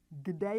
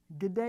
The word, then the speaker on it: kde: Kde je to? Where is it? Again, we pronounce a hard g sound instead of the k. Kde je to?